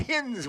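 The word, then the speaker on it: Hinze: to be uh hinge you're calling h-i-n-z-e hens yeah I went to school with Phil Hines he spent it the same way he said it the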